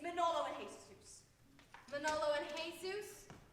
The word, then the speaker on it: Jesus: Manolo and Jesus? You don't pronounce the J.